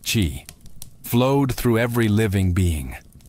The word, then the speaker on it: qi: It was about energy, the invisible, vital force called qi, pronounced qi, flowed through every living being.